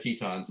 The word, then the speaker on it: Tetons: ah and whenever they refer to the Grand Tetons as the Grand Tetons because that was the